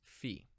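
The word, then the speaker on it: φ: the sound is see our final letter is fee it is an easy one to pronounce it is an F sound in all the system's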